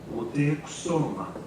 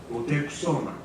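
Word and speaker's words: Motecuhzoma: Tie all this pronunciation analysis together and we can dig up a glimpse of what Montezuma's name sounded like in his day. Moteksoma, Moteksoma.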